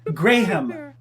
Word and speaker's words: Graham: he just said it he said Graham he says gray him yeah I know there's an H in there let's be on our way but he said Graham mm-hmm okay so now